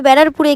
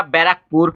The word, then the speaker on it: ব্যারাকপুর: বিরিয়ানি খেয়েছি, তাও আবার ব্যারারপুরে গিয়ে খেয়েছি। ব্যারারপুরে গিয়ে नहीं। আরে দিদি, তোমাকে দাদাবতী হোটেলে কে ঢুকতে দিয়েছে? তুমি ঠিকভাবে উচ্চারণ করতে পারছো না। ব্যারারপুর না ব্যারাকপুর? ব্যারাকপুর হবে, ব্যারারপুর বলছে।